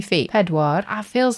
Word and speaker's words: pedwar: 4 is pedwar. Sounds a bit like Peter.